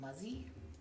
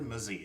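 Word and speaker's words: Mazei: Oliver Muzzy? Oliver Mazzie. It's spelled M-A-Z-E-I.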